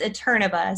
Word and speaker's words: Eterneva: It's Eterneva. So ETERNE, as in Victor A.